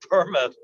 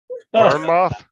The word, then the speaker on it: Bournemouth: Now, I said Bournemouth.